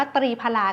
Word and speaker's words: ตรีผลา: ซึ่ง ก็ คือ ตัว ตรี ผลา นะ คะ ซึ่ง ตัว ตรี ผลา เนี่ย ค่ะ หรือ ว่า บาง คน อาจ จะ อ่าน ว่า ตรี พลา ก็ ได้ นะ คะ ซึ่ง สาร สมุนไพร